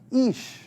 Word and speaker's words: Ish: And yes, the pronunciation is like double E, Ish.